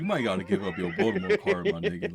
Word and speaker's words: Baltimore: First of all, I'll just tell you, it's pronounced Baltimore, just for anybody. Baltimore.